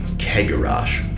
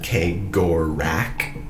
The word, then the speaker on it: Cegorach: However, other people are saying that the C in Cegorach or in Cegorach is like the C in Celebrimbor or Celeborn or all of those C's. Someone else says they just pronounce it cigarette or Sephiroth. The main audio that's official pronounces it Cegorach. However, I've always said Cegorach. I've heard so many different pronunciations, and of course I have my preferred one.